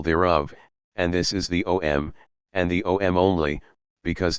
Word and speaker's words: Om: and this is the OM and the OM only because these three letters a m pronounced in combination as om May well be the